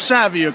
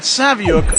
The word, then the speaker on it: Saviuk: Hello, this is Alex Saviuk for 11 O'Clock Comics, and that Saviuk rhymes with book.